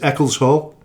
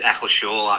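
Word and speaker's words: Eccleshall: H I think the corre the correct pronunciation is Eckles Hall. Is that correct? No, it's Eckleshaw actually.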